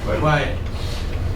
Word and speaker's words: quiet: mean please be quiet quiet two syllables quiet two s I'm over saying it so we say please be quiet but two sounds quiet quiet qu qu one sound